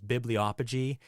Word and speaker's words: bibliopegy: It's one of the words that I can't say unless I think about it first, and it's bibliopegy, and that's how it's properly pronounced.